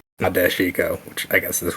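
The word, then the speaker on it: Nadeshiko: I looked maybe it's I guess the vowels kind of get dropped a little bit more than maybe I'm doing yeah I've been pronouncing it before syllables like not dashiko which I guess is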